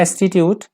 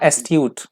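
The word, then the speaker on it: astute: it that is called culmination next word है एटीट्यूट माफ कीजिएगा एस्ट्यूट मैंने गलत प्रोनाउंस कर दिया एस्ट्यूट एस्ट्यूट यहां पे एडजेक्टिव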